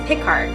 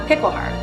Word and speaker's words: Pickhardt: bear when a student couldn't pronounce miss pickard correctly they called her pickle heart it stuck and gail